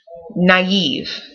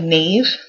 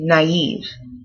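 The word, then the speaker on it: naïve: this word also is naive naive it may look like Nave but actually because of these two dots it's um a foreign word so you don't pronounce it as Nave but you say naive naive um this word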